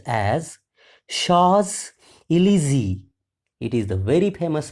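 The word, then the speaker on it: Champs-Élysées: paid off Madame Lael encounters genie on the shaw El look at the spelling once again though the spelling is c h a m PS e l y s w s it is pronounced as Sha elzy it is the very famous place in the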